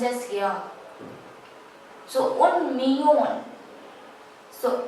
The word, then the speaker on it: millón: We write it as un millón. Double L is always pronounced as ya, but in some countries it is also pronounced as z, or say you.